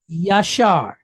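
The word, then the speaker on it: ישר: So like AH with a resh behind it, right? Shar, shar. So the word is yashar.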